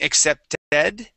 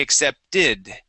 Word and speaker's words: accepted: ed ending, okay, but instead of saying accepted and using a short e, we say accepted with a short I sound.